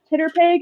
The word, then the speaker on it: TTRPG: So Yes, I once heard that pronounced Titterpig, and I stuck with it.